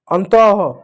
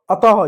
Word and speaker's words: अतः: अह, इसका अह, जैसे अंतः, अतः, इसको पढ़े, इसको अंतः नहीं अतः, लास्ट अह, इस तरह से इसका उच्चारण होता है।